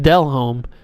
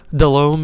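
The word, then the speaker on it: Delhomme: oh they got jake dell home the broncos got jake dell home delome is how you actually say his name uh just roster i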